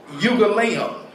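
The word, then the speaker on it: εὐαγγέλιον: The Greek word eugaleon. I'm gonna spell it for you.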